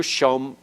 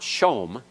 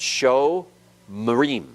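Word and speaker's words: שומרים: It's actually two syllables, sho, and then mrim. It's not shom. It's not a closed syllable. Closed syllable is where a consonant closes the syllable, finishes the syllable. This isn't shom, because that holum wow is a full letter vowel and cannot reside in a closed syllable. Okay? So there it's vocal, and it's sho marim.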